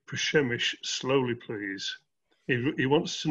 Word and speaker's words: Przemyśl: definitive pronunciation is so for the definitive pronunciation i'd recommend you go to uh the english version wikipedia which actually i think has a recording of how you say it um but it said shamish so just just into